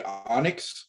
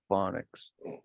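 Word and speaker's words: Phoniks: singing phonics heck yeah did you say onyx was who it was no phonics phonics like sorry yeah oh okay fine well they spell it p-h-o-n-i-k-s yeah but just the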